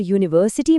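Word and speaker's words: university: और यूनिवर्सिटी में यू की आवाज़ अ नहीं बल्कि यू जैसी है, य की तरह, जो एक कॉन्सोनेंट साउंड है।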